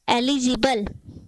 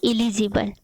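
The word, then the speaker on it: eligible: इसको हम पढ़ते हैं एलिजिबल, एलिजिबल, एलिजिबल, ना कि इलिजिबल।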